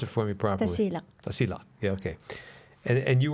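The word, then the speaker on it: Tasiilaq: north there's right so we're talking about t pronounce it for me properly tasil yeah okay and and you were in tasil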